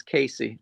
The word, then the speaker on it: Casey: By the way, it's not Cassie, it's Casey.